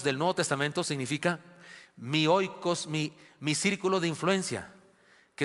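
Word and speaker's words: οἶκος: pasaje fue la palabra oikos, o oikos, se pronuncia oikos, se escribe oikos.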